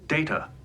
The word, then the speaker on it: Data: It is pronounced Data.